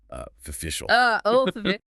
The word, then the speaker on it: official: It has 3 syllables. The stress is on the second syllable, O, F-A-V-I, shol. Because the first syllable O is unstressed, it reduces to schwa. Official.